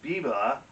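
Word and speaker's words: Biber: pronounce it because it it's too tempting to make it sound like justin bieber but he's an austrian composer and therefore his last name is biba and that's how you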